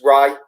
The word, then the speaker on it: Rea: And then I get a message today in the comments saying, it's Ray.